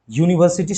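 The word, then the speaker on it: university: My brother is dash ইউনিভার্সিটি student, কি হবে? দেখো ইউ আছে, কিন্তু এর উচ্চারণ কি? এর উচ্চারণ কি হচ্ছে? এর উচ্চারণ ইউর মতোই হচ্ছে।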